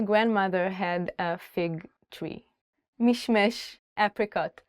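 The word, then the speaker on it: משמש: Mishmesh, apricot. The word is mishmesh, but Israelis usually say mishmish.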